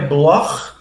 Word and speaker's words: Bloch: Meu sobrenome é Bloch. No alemão, o CH tem esse som, né, gutural aqui.